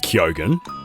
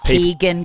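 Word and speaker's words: Keoghan: in we've always said that correctly CU it's kyogen and what do people say Keegan Co what do they say kogan Ken I've heard kin before cuan I've heard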